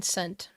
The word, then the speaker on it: scent: Uh, is the S or the C silent in scent? The C. The C is silent.